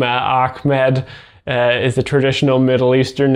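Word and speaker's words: Achmed: It's not Ahmed, it's Ahmed.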